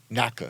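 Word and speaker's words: NYCHA: all these people na Nika NAA we call it Nika cuz New York can't pronounce anything properly but we're having people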